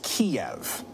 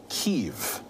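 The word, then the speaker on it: Kyiv: you pronounce that well the russian pronunciation just fyi is kiev but ukrainians tend to say kiev and after the soviet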